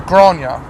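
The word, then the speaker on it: Gráinne: through grain grow on that's a weird Irish name isn't it I mean there's a lot of Irish names out there that um spelled with some very questionable letters and it'll just come out as gronya I'm like how are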